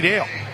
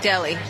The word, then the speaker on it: Daly: going to be Katie Dale. Oh, let me double-check my pronunciation guide. I think I have it wrong. Kate Daly. Daly, yep.